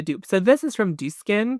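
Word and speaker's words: Dieux: So, this is from Din. I've been told is it's just pronounced like do.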